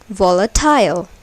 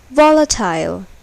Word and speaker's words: volatile: Here, the first syllable is accented. Suppose if the last syllable is accented, then it will be pronounced like volatile, but it is volatile.